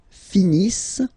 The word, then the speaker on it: finissent: Ils finissent. So remember, as usual, when we've got the verbs E and T not pronounced.